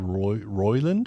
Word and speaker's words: Roiland: Apparently, though, the charges that Justin Roiland, is that how you say it?